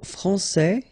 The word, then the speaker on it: français: Okay, so français here, you get this final S that you don't pronounce, so français, and then when you put this final E here, you will get française.